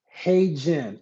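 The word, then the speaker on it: HeyGen: Hey Jen.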